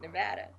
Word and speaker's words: Nevada: if you're from nevada you pronounce it nevada nevada nevada like vader okay um pardon me